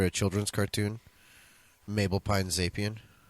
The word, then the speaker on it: Zapien: She's actually named after a children's cartoon, Mabel Pine Zapien. You didn't say it right. Zapien. There we go.